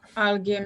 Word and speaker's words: alguém: I want to think of a word where the U is pronounced. Ensanguentado? Yes. Thank you. Well, let me not write this here. So it's okay. Alguém now.